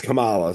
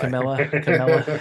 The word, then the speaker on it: Kamala: And I think It's Kamala, so it's hilarious that you're saying it that way. Camilla Kamala. Camilla's like a porn star or something. It's like the ultimate white man pronunciation of Kamala.